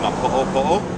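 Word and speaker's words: Napo'opo'o: It's actually pronounced Napopo, so it looks like Napopo.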